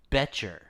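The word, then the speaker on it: Boettcher: I'm sorry uh uh it is apparently pronounced beter beter beter so the you said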